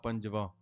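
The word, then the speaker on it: ਪੰਜਵਾਂ: Just like in Gurmukhi and Gurbani, Sri Granth Sahib Ji will say Mahalla Panj, but we don't say Mahalla Panj, we say Mahalla Panjava.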